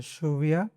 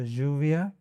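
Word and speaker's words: lluvia: तो श है तो शुविया, तो रेन। ज है तो जुविया, और य है तो यूविया।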